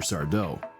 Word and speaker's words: Sardo: Sardau. No, mister. Accent on the toe.